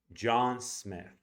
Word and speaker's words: John Smith: So you're going to say it like this: John Smith. You're going to pronounce it dog and then kid.